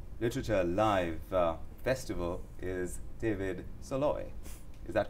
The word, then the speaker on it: Szalay: at the tata literature live festival is david solo is that correct am i pronouncing is pronounced e and very well yes